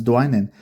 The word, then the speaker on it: Dwynen: Oh my goodness, I pronounced it wrong the first time. It's Dwynen.